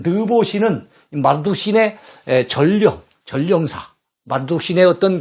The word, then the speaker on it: 마르둑: 그 신들 가운데 마르둑 신이 있어요. 말뚝이라고 해도 됩니다. 줄여서 발음하면 말뚝 신이에요.